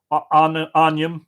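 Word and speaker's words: ainm: Other words like Bolg with a secret extra syllable: Barbara, Folav, Lanav, Marav, Jarfa, Donacha, Shelig, Jarug, Aragad, Dorka, Colum, Anium, which is name, Gorum, which is blue, isn't it?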